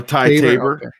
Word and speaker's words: Ty Tabor: it's left is it tabor tabor tabor uh ty tabor yeah and then jerry caskel on the drums